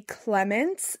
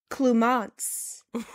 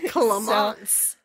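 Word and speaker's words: Clémence: Now, this one is spelled where it looks like it would be Clements, but online it says Clumance. Oh, Clumance.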